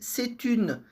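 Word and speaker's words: c'est un: Bom, aqui o único detalhe aqui bem legal na pronúncia que esse C que tá no começo, ele se junta com a palavra seguinte, né? Então a gente viu claramente ela falando ali setun.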